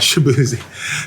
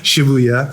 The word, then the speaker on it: Shibuya: where we were was Shibuya right shabuya um I think it's pronounced shabzi sh it's not shabzi shabuya um and it was on